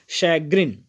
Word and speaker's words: chagrin: आगे बढ़ेंगे, लेंगे हमारा अगला वोकैब, और हमारा अगला वोकैब है शैग्रिन। शैग्रिन, CHAGRIN। यहाँ पे CH जो है वो CHA का प्रोनाउंसिएशन शै होगा। सो ये हो गया शैग्रिन।